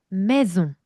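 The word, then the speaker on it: maison: 마이종 아니고요. 매중. 매중. 그렇죠?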